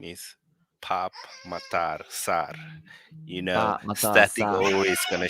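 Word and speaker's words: Pape Matar Sarr: Guys, by the way, his name is Pap Matar Sar. You know, Static always gonna show off how to pronounce names.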